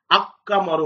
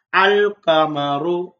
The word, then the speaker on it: القمر: இங்கு நாங்கள் அக்கமரு என்று சத்து சேர்த்து உச்சரிக்க மாட்டோம், தெளிவாக அல்லை வெளிப்படுத்துவோம். அல் கமரு, அல் கமரு, அல் அபு, அல் பாபு, அல் ஜமலு, அல்ஹிசானு இவ்வாறுதான் நாங்கள் உச்சரிக்கிறோம்.